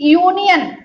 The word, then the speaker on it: union: आ रहा है कि यूनियन, UNION। तो ये शब्द जो है यूनियन यू से आरंभ होता है, लेकिन यहाँ पर यू का उच्चारण क्या है? आ ना होकर यू है, आ ना होकर यू है।